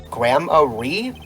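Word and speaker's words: Gramarye: It's pronounced like Grammarly without the L. So the reason we've been pronouncing it grammar is because earlier in the game Apollo says gramari.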